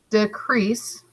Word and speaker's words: decrease: is decrease decrease okay decrease two syllables decrease you can see e as the dash over the top but it's the long e sound decrease crease has the emphasis is a verb